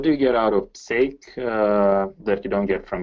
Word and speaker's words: psake: It's pronounced sake. So just like the Japanese drink, but PS on the front for PowerShell.